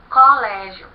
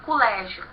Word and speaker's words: colégio: Então ele nos diz que Pernambuco eles vão falar colégio, eles vão tratar uma palavra paroxítona como se fosse uma palavra proparoxítona, né?